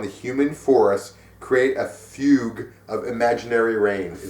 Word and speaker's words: fugue: human Forest create a Fugue of imaginary rain is it fug that is a fug is it Chocolate Rain or that fug yeah it's not fugy I don't like this